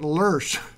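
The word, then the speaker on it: Löss: Bretz, writing in 1952, George Neff is convinced that there is an older Luss, he pronounces it Lursh, in the Palouse, beneath some of the Scabland gravel deposits, to a younger, much overlying these gravels.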